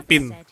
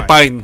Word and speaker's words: Pine: Kita ke poin G, tanya ke orang ini, namanya Pin. Are you Pine? I am. Oh, dibacanya Pine. I'm looking for his dinner. Saya pikir I Pin.